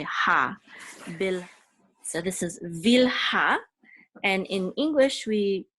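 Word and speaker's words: Bilhah: So the accent is on the last syllable, so it's Vilha, whereas in English we usually say bilha.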